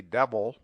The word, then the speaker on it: devil: The rule is sometimes applied to devil and evil, but it is better to suppress the vowel and say devil, evil.